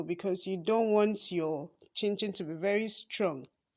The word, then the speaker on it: chinchin: Now you still have to be very soft on the dough because you don't want your chinchin to be very strong. Chinchin, not chim chim.